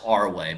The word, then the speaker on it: ARway: will be using arway I mean technically it's pronounced our way but they will be